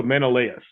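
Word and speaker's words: Menelaus: They pronounce the A, not the A us. Yeah. So, Menaus.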